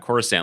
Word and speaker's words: Coruscant: out and everyone just tossing around Coruscant like they knew it was a soft C.